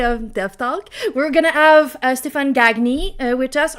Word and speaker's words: Stefan Gagne: We're gonna have Stefan Gagne with us, or you can pronounce it in French if you're Anto and say Stefan Gagne, which is our way of saying it usually, but we have a new way of saying it.